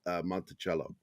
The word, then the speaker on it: Monticello: What I care about is that it's pronounced the way it was named, as Monticello, Thomas Jefferson's home.